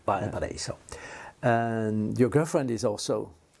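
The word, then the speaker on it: Valparaíso: How do you pronounce it? Valparaiso? Valparaiso. Valparaiso.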